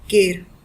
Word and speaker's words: quer: Alright, so that is why this stem will be pronounced as care, and which also means it will be this a which will undergo the stem change.